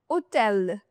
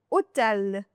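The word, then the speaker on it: hôtel: That H in French is always silent. It is never ever pronounced, the H in French. For example, hotel. You just start the pronunciation from the wall. Hotel. Homme, hiver. Hotel, homme, hiver. So, you start the pronunciation directly from the wall. You don't start it from the H.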